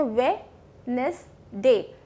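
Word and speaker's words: Wednesday: हम कहते हैं वेडनेसडे. डी साइलेंट होता है, वेडनेसडे.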